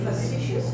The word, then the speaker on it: facetious: Se pronuncia facetious, no facetious.